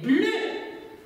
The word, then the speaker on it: bleu: Mais cette fois-ci, ici, si, cette, pardon, cette fois-ci, le E, U se prononce E fermé et pas le E ouvert.